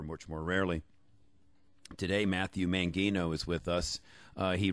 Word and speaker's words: Mangino: how you doing today is it mangino or mangino it's mangino mangino you know as soon